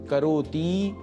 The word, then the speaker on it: करोति: यहां करोति इस पद का उच्चारण करते समय हमें ध्यान रखना है कि करोति के त में जो ह्रस्व ई है उसको दीर्घ नहीं करना है। करोति यह नहीं बोलना है।